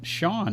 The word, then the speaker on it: Cian: I was going to ask you, is that Sean? That's not how you spell your name. It looks like Cian to me.